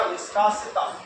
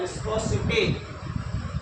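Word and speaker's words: viscosity: तो कईयों ने इसकी इंग्लिश जो है इसका थोड़ा सा प्रोनाउंसिएशन बिगाड़ के इसका नाम रख दिया विस्कासिता, हालांकि इसको कहते हैं विस्कोसिटी।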